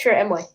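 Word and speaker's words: Chirrut Îmwe: I think I can't pronounce his name. Yeah, it's Chirrut Emway.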